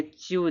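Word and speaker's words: chew: टी एच आए तो ई डब्ल्यू का उच्चारण बड़ा उ होता है। ठीक है? चलिए एग्जांपल देखिए यहां पे। यहां पर आप एग्जांपल देखिए। यहां देखो चू दिया इसको बोलेंगे चू।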